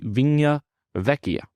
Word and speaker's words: Vigna Vecchia: called Restaurante vigna Vecchia I do mispronounce it in the our my actual conversation but it is called Restaurante vinya Vecchia it is not a